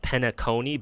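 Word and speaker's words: Penacony: I pronounce it Panakini with the stress on the A. I know people, it's supposed to be pronounced Penaconi, but I find that pronunciation to be fucking hilarious.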